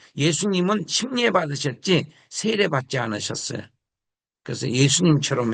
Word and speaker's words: 침례: 너희가 사례 세례로 세례로 그리스도와 함께 장사되고 여기서 침례라고 읽어야 맞아요. 침례. 세례라고 하는 말은 잘못된 용어입니다. 침례.